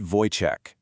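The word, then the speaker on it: Wojtek: And the name they gave him, Voytech. You pronounce it Voych, and it means joyful warrior.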